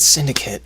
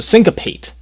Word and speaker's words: syncopate: or not syndicate syncopate why do I keep thinking it's syndicate because there's something else in my life that is syndicate so syncopate syncopate spelled like sync like you know like sync licensing like sy and c syncopate go check out